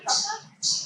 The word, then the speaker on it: krupka: Also, have you tried krupka? Crep flap. It's the sound at the end. Like clearing your throat.